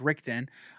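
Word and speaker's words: Ritchson: reacher is alan rick i believe it's pronounced richton um but he was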